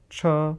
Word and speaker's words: 车: What about so many different kinds of cars, which is Cars. first tone? 车.